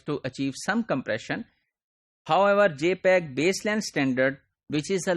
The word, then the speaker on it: JPEG: So for that, what we use JPEG, JPEG. This is pronounced as JPEG, and this is standard developed by Joint Photographic Expert Group and widely used for photographic industry as well.